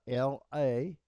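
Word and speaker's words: לא: But one of them is pronounced la and one of them is pronounced lo.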